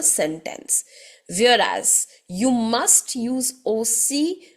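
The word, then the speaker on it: aussi: more that is I've hear the verb OC o c which means also now oi a lot of people mispronounce this word and they say o z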